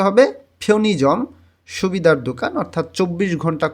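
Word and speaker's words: 편의점: অর্থাৎ উই যখন কোনো শব্দের মাঝামাঝিতে চলে আসে তখন কোরিয়ানরা এটাকে শর্ট করে ই উচ্চারণ করে, উচ্চারণটা সুন্দর এবং দ্রুত করার জন্য। এখানে উচ্চারণ হবে ফিওনিজম। হ্যাঁ, ফিওনুইজম এরকম উচ্চারণ করলে ভুল হবে।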